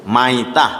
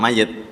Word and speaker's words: maitah: disebut mayit, disebut maitah, jangan mayit, maita, bangkai lah.